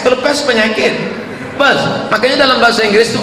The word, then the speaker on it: Perth: I am going to Perth. Bukan pes. Kalau pes penyakit. Perth.